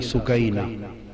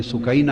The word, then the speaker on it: سکینہ: لخت جگر شہزادی سیدہ سکینہ، اصل نام ان کا عربی وزن میں سکینہ ہے، عرف عام میں سکینہ چلتا ہے، اصل لفظ سکینہ سیدہ،